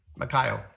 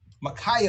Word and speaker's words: Makaio: Makaio. Makaio.